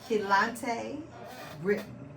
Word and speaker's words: Kelontae Britten: I'm here with Keon, Talley, and Kelontae, Britten.